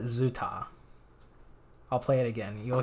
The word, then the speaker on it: 朱塔: He pronounces it ZooTay.